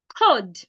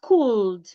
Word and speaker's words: could: Could, not cooled.